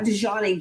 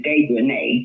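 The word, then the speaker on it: Dejanae: Her name is Dejanay. Yeah, That's Dejanay. it. Dejanay, because it's got A-E on the end.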